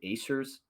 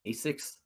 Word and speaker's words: Asics: to butcher the name, Acers. I think that's how you say them. Asics? Asics. Yes. Yeah, Asics.